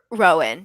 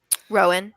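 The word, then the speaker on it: Roën: Over Rowan? Yeah, I think so. Ronan? Rowan. I think it's Rowan. Yeah. Yeah, because it's the same.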